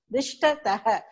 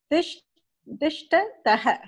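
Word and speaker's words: तिष्ठतः: Dishtataha. Again? Oh, I'm sorry. Gajau. It's dual, right? Okay. Gajau. Tishtataha. It is tishtataha. Tishtataha. Okay. The pronunciation is not correct.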